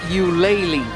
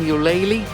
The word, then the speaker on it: Ulele: all right guys so you pronounce it you laylee the restaurant you pronounce the name yooli and now they have